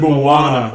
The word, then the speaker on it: Moana: The Rock was going to be bad in Mona but I was wrong that was awesome Moana oh Moana sorry is Mona